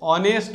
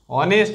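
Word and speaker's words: honest: দেখো প্রথমে যেটা আছে অনেস্ট ম্যান এখানে এইচটা সাইলেন্ট থাকছে অনেস্ট ম্যান অভাল সাউন্ড অফস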